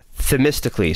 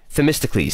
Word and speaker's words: Themistocles: follow-up doesn't have a themistically sorry themistocles that's how you pronounce it so by zack